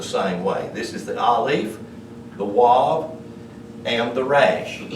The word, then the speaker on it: aleph: The only difference in this word and this word, or, the aleph, which is the number 1, and the ayin both have an A sound.